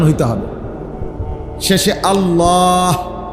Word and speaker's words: আল্লাহ: শেষে আল্লাহ শেষে একটা গোল হা আছে ছোট হা আল্লাহ মানে আল্লাহু তো